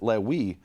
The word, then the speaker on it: Levi: century, from the 500s, he rhymes Navi with a soft bet, which everyone agrees on, with Levi. Now, according to the Yemenites, they don't pronounce it Levi, they pronounce it Lewi.